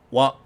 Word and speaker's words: は: Now, while this character is normally pronounced as ha, as we just talked about earlier, it is pronounced wa only when it's being used as a topic particle.